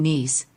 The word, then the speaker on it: Nice: You have Nice, which is a homograph because it can be also pronounced as nice, because that's a standard English word, and so on, so on.